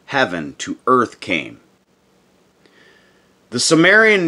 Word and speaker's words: Sumerian: understand to this day called sumerian or pronounced shu marian this perhaps alone proves